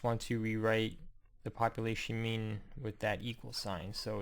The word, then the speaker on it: mu: symbol here is the lowercase m in Greek pronounced me one last and final note I just want